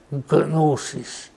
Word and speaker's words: gnosis: ancestors gave the name gnosis because the Greek pronounces the G quite hardly what does gnosis mean